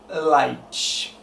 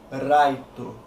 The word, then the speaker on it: Light: que podemos chamar assim, que é o Light. Muitas pessoas vão me criticar por causa dessa pronúncia, porque no anime eles falam Raito. Enfim, eles falam Raito porque os japoneses não possuem o L no alfabeto deles, então a fonética para eles é difícil, porque eles não estão acostumados a